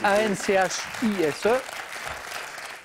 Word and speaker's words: Anchise: Ça s'écrit A-N-C-H-I-S-E.